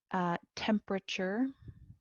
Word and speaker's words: temperature: Temperature, again, this E silent.